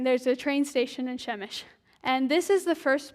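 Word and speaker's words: Przemyśl: I'm hearing Przemysl, stuff like that. Okay, It's Shemesh.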